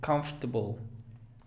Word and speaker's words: comfortable: Pronuncia comfortable. Son 4 sílabas. Perdón, 3. Comfortable. Comfortable. Se elimina una y es comfortable.